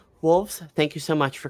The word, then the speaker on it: Wohlvs: that you're looking at like wolves like it's that's my my social of everything Twitter Instagram uh everything YouTube and you spell that w o h l v s yeah I had to